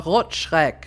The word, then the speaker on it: Rotschreck: he succumbs to the Rotschreck. And that is how you pronounce that appropriately. Rot, meaning red. Schreck, coming from Schreck mich nicht, erschrecken.